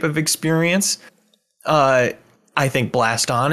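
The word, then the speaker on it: Blaston: experience uh i think blast on is great rhymes with gaston for spelling thank you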